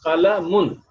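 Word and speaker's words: قَلَمٌ: Double dhamma indicates that the noon has been dropped. So when we pronounced meme with a double dhamma, the noon that is dropped in writing will be pronounced in speaking. Noon is actually dropped in writing the word, but that noon will be pronounced when we speak that word. So this word will be pronounced qalamun.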